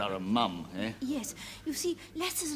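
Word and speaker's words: Mapledurham: name's Mom lester Mom it's spelled Maple Darham pronounced mom he's a fellow hunter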